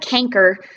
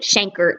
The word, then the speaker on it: chancre: syphilis, you may develop what's called a canker. Some people pronounce it chancre.